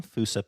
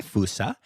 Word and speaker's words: fossa: you're not seeing my fousa uh pics then you can Google but it is Fasa F SSA um and actually some people do pronounce it FAA um but fousa is the more accepted and I like it